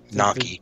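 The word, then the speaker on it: gnocchi: I don't know why, but I always pronounce Gnochi not with, like, overpronounce the G in it. Gnochi. You don't pronounce the G.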